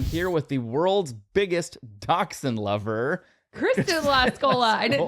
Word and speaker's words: dachshund: It's not pronounced dash hound, okay? So if you're the person who keeps saying dash hound, I'm sorry. Stop. It is dachshund. Okay. It is dachshund or wiener dog.